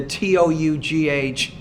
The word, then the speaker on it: tough: For example, the TOUGH is more of an F consonant sound. For example, in the word tough, tough. Kind of similar to laugh, laugh.